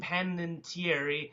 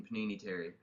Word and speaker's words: Panettiere: thrilling new series on ABC, Nashville, starring Hayden Panettiere and some other... I think you said her name wrong. It's Panini Hayden Terry. Hayden Panini? Hayden Panini Terry.